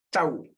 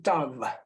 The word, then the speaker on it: tav: En hebreo, acá con letras hebreas, tau. Se puede decir tav también, tav o tau.